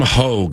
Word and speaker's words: Hoge: Hogue, I am saying your last name right, correct? That is right. Yep, it's Hog.